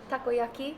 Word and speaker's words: takoyaki: loved absolutely everything but takoyaki am I saying pronouncing it properly yes it's a utopus bow